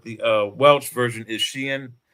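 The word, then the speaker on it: Siân: uh Welsh version is Shien. S I A N. And it's got like an accent. There's like two dots over the I and like an a triangle over the A. And it's pronounced sheen Phillips.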